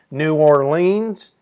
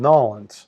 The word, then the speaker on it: New Orleans: s Diego to nans notice how you say it not new New Orleans hey let's go to New Orleans no it's called noin at 600 kilometers per hour